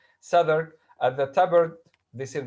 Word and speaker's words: Southwark: It happened in that season that one day in Southwark, this is the pronunciation of this. This is a place, a small place in London, a district in London, Southwark.